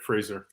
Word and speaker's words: Fraser: I am here with Fraser am I pronouncing your last name right that's correct Fraser Fraser um he is the chief athlete officer